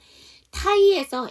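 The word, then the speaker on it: Thai: 있는 단어 찾아주세요 그죠 타이에서 h 묵음이야 안 그러면 따이 푸드가 돼야 되겠지 자 그다음 스트가인데 타임이죠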